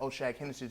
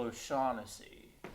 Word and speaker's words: O'Shaughnessy: now ay-ay-ron take your ass on down to oh-shag-hennesy's office and explain to him exactly what you just did oh sheikh Hennessey you mean principal o'shaughnessy get joe goddamn ass out of the class